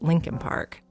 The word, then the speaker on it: Leakin Park: a word here about Lincoln Park it's actually spelled Le Park l e a k i n but almost everyone in Baltimore pronounces it Lincoln Park it's huge over a